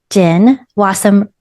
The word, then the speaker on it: Jen Wasem: And so you don't forget her name, Jen Wassom rhymes with awesome.